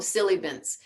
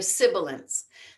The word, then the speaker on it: sibilance: the way the syllables i used to call them silly beens they're sibilance they shout and the